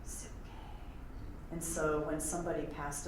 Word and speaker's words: psyche: It's onomatopoetic, psyche.